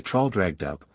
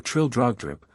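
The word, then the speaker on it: Trildrogdrib: in my retinue to tr drag dub or Trill drog drip for it is pronounced both ways as near as I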